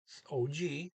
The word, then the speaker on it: og: N-A, man, man, O-G. The G can be pronounced. It's usually not here.